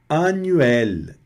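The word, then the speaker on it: annuel: Anuel. Anuel quer dizer anual. Anuel, né? E eu não pronuncio aqui como se fosse anel. Tá vendo? O os dois ns aqui tem um som de um n só.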